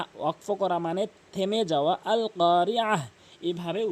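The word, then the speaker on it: القارعة: ওয়াকফ করলে মালকারিয়াহ, ওয়াকফ করা মানে থেমে যাওয়া, আল কারিয়াহ, এভাবে উচ্চারণ করবেন।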